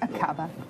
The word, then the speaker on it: Aqaba: Akaba? Mm. Is that how you would pronounce it? Yes. Akaba.